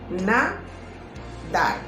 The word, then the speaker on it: nadar: La palabra nadar es una palabra aguda que consta de 2 sílabas. La mayor fuerza de voz, o sea, la sílaba tónica, se encuentra en la última sílaba.